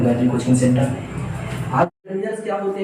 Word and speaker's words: determiners: बहुत से लोग इसको डिटरमिनर का प्रोनाउंसिएशन करने में गलती करते हैं। डिटरमिनर्स ये होते हैं, डिटरमाइनर नहीं बोलना है, डिटरमाइनर्स नहीं बोलना है। इसका जो प्रोनाउंसिएशन शुद्ध प्रोनाउंसिएशन हो जाएगा। अगर बात करें यहाँ पर इसका शुद्ध प्रोनाउंसिएशन हो जाएगा प्रोनाउंसिएशन की बात करें तो इसको बोलते हैं डेटर। इसको बोलेंगे डिटरमिनर्स।